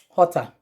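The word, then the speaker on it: jota: english language is j in spanish it's been called ota hota and this um word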